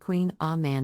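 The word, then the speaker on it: Kouign-amann: variation on a traditional pronunciation Queen Amon is pronounced Queen ah man in French the name can be a bit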